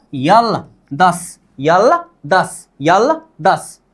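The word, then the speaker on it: 열: भी अक्षर के नीचे आ जाए तो इसका उच्चारण क्या होनी चाहिए, ल होनी चाहिए, मतलब यल, क्या होगा, यल।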